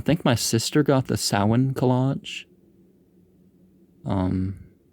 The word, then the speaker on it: Samhain: I know it says Samhain, but that's how it's spelled, but it's pronounced Samhain.